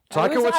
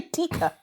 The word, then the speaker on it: Taika Waititi: Taika Waititi. I was going to say Tika. No, Taika Waititi and Kate Blanchett as well.